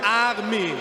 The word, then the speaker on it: Armin: That's wrong pronounced. My name is Armin. It's German, Armin.